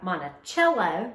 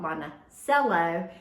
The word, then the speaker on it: Monticello: I'm not from Monticello, which is how they pronounce that. We call it Monticello in the South.